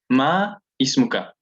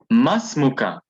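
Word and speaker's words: ما اسمك: Hamidun, ma ismuka, ma ismuka, but we're going to pronounce it as masmuka, masmuka. Ma and ismuka, but you see the squiggly thing here on top of the alif, it's a sign that this is a hamzatul wasl.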